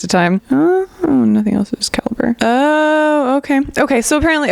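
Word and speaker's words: Calibre: lot of you mentioned calra or calibra I guess I should look up the pronunciation of that hold hold please caliber oh it's caliber well now I feel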